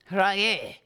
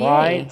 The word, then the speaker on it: Wolf-Rayet: Well, I'm not saying Rayet. I'm saying Rayet. Rayet stars. Rayet. Wolf. It's not hard. Just Wolf. Rayet. Rayet.